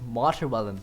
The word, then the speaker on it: Materwelon: It's not Materwelon, it's not Materwelon, and it's certainly not Materwelon, it's Materwelon. Watermelon, and you exchange the M and W.